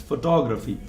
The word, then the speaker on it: photography: There is a letter stress at TO, and that's why it's photography.